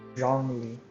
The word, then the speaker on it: Zhongli: Zhongli. So you pronounce it Zhongli.